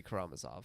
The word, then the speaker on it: Karamazov: of that consistent because I pronounce it like three different ways depending on the day and how I'm feeling uh but today I think it's going to be karamazov okay uh I will